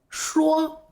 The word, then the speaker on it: 说: 用的是这个发音，说。